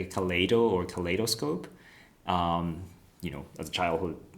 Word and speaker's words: kaleid: I pronounce it Kaleido because it sounds more natural, but the function is Kaleid without O.